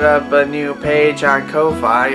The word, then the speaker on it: Ko-fi: a new page on koh phi or coffee as they like to pronounce it where you can pretty